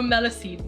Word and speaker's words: Melusine: Oh, Melusine. Melusine makes more sense.